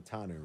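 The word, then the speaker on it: Fautanu: o lineman Troy fat is it fanu right fanu f fanu fanu is how you say it oh my bigie I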